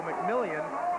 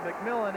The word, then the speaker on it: McMillan: pronounces his name because it could go mcmillion but he says it's McMillan and be ready to